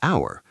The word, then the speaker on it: hour: Or an hour. H is a consonant, so you might say a hour, but that's also wrong. An hour is correct.